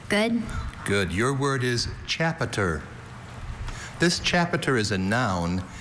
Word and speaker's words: chapiter: Chapiter. Can you please repeat the word? Chapiter. Once again, it hinges on the schwa in that middle syllable. That sound that could be any vowel.